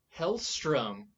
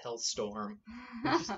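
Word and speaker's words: Hellstrom: all a favor ooh hell strum did i pronounce that correctly yep i always when i was younger said hell's storm sounds like a 90s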